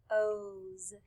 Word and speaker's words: those: The E is silent, so we do not hear it. We just hear those.